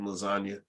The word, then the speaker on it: lasagna: Because the G is silent in lasagna.